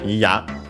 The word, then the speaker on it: ya: First and foremost, we have again Ya, which is accent on the last syllable.